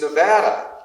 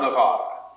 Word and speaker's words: Nevada: the pronunciation of Nevada it's Nevada not Nevada not necessarily you shared memories of